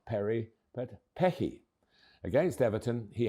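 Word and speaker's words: Perri: Perry. Easy, you would think, but think again. The Rs in certain parts of Brazil are said as H's.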